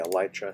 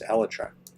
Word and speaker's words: elytra: Some people say elytra, some people say elytra, and neither one is correct. It's elletra because the word comes from the word elatron, which is the name